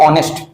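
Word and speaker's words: honest: जैसे मैं बोलूं ऑनेस्ट, जैसे मैं क्या बोलूं ऑनेस्ट। अब सारे बच्चे क्या करेंगे, इसको सर इसको गलत कर देंगे। क्यों, क्योंकि इसके साथ हिंदी प्रोनाउंसिएशन में बात करूं तो वो आ रहा है, लेकिन मैं इंग्लिश की बात करूं तो सर इसका स्टार्ट हो रहा है लेटर किससे, एच से।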